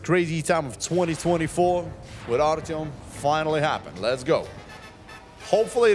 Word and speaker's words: Artyom: A-R-T-Y-O-M.